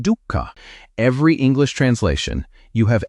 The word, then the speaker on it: dukkha: The word is dooka. Say it like duka.